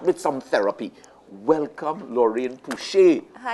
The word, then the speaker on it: Pouchet: But the French thing is Pouchet. But as Trinidadians, Trinbagonians, we answer to both. Pouchet, Pouchet, we'll answer here, but it's really Pouchet.